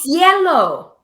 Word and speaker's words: cielo: Oh, cielo. There you go. Oh my gosh, you've been saying your dog's name wrong this whole time?